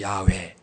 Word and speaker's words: 야훼: 그분이 우리가 믿는 하나님, 그분의 이름은 여호와, 히브리어 발음으로는 야훼. 한번 더 합시다. 야훼 하나님. 여호와는 이제 헬라어가 영어로 제호바 해서 우리나라 번역으로 여호와. 원래 히브리어 단어는 야훼 하나님, 그래서 야훼. 근데 그분 이름이 너무너무 거룩해요.